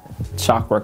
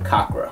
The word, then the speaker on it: Cakra: him last time and every time you said Shakra Khan it remind me of Shaka Khan yes um is that the right did we get the right pronounce pronunciation of that first we were saying kakra kakra we were saying kakra and and in